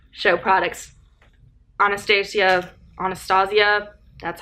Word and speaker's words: Anastasia: Anastasia, that's how it's pronounced.